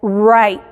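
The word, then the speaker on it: write: suena un poquito diferente no se escuchan la w pero cambia el sonido de la r entonces es rights rights de escribir no tiene el sonido pero la forma de nuestra boca la hacemos como si fuéramos a hacer pero nada más conocíamos wright wrong entonces en esta combinación la w es muda cuando la w está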